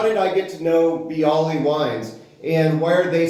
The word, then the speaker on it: Biale: bottle of bii Robert bii Winery if you have not been here in Napa Valley you're missing something um this is a David Natali um and he does does rhyme with bii I know that um